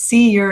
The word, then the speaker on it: Ure: So I'm and the way to remember to pronounce my last name is C-ure is cure, so rhymes with cure.